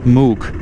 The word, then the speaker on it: Mook: So we're now in Mook, M-W-K, Mook. You pronounce it like Mook.